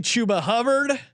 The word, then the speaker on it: Chuba Hubbard: I've been all over this guy to the point that I've been lectured on the pronunciation of his name. Give me Chuba Hubbard.